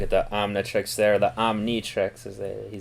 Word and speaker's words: Omnitrix: So, brief look at the Omnitrix there, the Omnitrix, as he said. Okay, she pronounced it right.